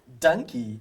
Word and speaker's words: Dankie: Dankie means thank you in Afrikaans. Donkey, did I say it right? Perfect.